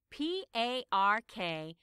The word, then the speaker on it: Parkhurst: But actually, the reporter got his surname wrong. It should be Parkhurst. That's Parkhurst.